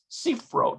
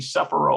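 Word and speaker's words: ספרות: history the root lomadet sea throat seafro that's how you pronounce that i would have thought that'd be suffer but there's no vowel pointing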